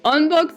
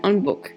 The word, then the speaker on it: Onbook: Wait, did I say Onbok? I meant Onbook. I keep reading it as Onbok for some reason. Onbook is how you say it.